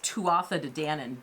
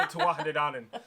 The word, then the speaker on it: Tuatha Dé Danann: So I would normally say this Tuatha Dé Danann, but in learning what the pronunciation is, it looks like it's Tuatha Dé Danann?